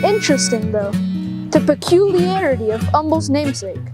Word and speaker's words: Humble: Humble, and to make sure we're all on the same page, it's pronounced Humble with a silent H.